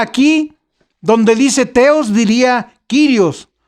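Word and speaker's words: κύριος: Si dijera del Señor, diría aquí, donde dice teos, diría Kyrios o curios. Se escribe curios y se pronuncia Kyrios, pero no dice así.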